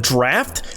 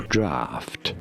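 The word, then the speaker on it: draught: Draft. Draft. And it pisses me off because I'm seeing it now. A gh can make a f sound.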